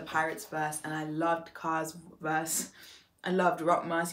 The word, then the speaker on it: Roc: by the way i know one video are mispronouncing cars name as per usual as i i mispronounce